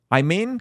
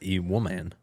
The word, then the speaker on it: Imane Khelif: Imane Khelif? How do you say her name? It's not Imane. Imane, okay. It's E-woman. E-woman, excuse me.